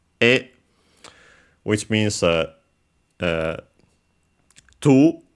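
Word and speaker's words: へ: And then we add the particle e written as he but pronounced as e which means uh uh to as in the direction then it is repeated.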